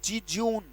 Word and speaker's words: jejune: या फिर इसी के लिए एक शब्द है JEJUNE, पढ़ा जाएगा बेटा जिज्यून, और उम्मीद करूंगा साथ साथ आप उच्चारण भी लिख रहे होगे, जिज्यून।